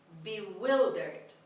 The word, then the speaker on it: bewildered: word number 12 bewildered bewildered bewildered the stress is on the second syllable on w bewildered means confused completely